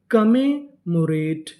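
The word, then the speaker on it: commemorate: MO इसे पढ़ेंगे मो, RA रे, TE टा, क्योंकि ई का उच्चारण नहीं करना। तो मीनिंग क्या बनी, कमेमोरेट, कमेमोरेट।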